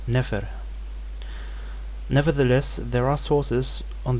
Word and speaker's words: nfr: So for example, NFR, beautiful, is just pronounced Nefer.